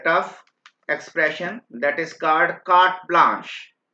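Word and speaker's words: carte blanche: इसको कार्ट pronounce करते हैं बेटा, CART, कार्ट प्रोनाउंस करते हैं, एंड ब्लांश प्रोनाउंस करते हैं. ये मैं अगर आपको प्रोनाउंस करना दिक्कत आ रही हो तो BLAN, राइट, SH, ब्लांश, इस टाइप से प्रोनाउंस करते हैं, ताकि ये मैंने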